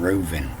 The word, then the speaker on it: Reuven: this old ruben there there is no dot in this b and it's pronounced as a v and uh and you